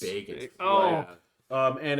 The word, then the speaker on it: Bagans: Is well, no, you got to pronounce it like fucking like North Carolina Bagans. Bagans.